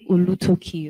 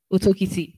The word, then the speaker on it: Otokiti: But I think Olutoki or something. Otokiti, thank you very much, God bless you.